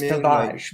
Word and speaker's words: Tavares: It's Tavares, by the way. If you say it wrong, they get mad.